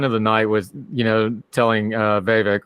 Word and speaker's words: Vivek: She had the line of the night with, telling Vivek, rhymes with snake, rhymes with fake, that every time he talks, she feels dumber, which was probably the best line of the night.